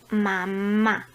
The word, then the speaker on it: mamá: La sílaba tónica de mamá es mamá, la primera empezando por el final.